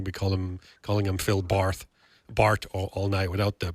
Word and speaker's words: Barth: Your name is pronounced uh, Phil Bar. Is that it? Phil Bar. You got it.